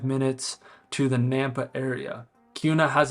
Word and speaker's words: Kuna: the amenities in the housing to see if Kuna Idaho is one of the best places to